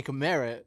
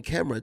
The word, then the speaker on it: Kamera: but it's pronounced Tony Camara. Tony Kamera. See what the thing is everybody always say Tony Camera, Tony Camera.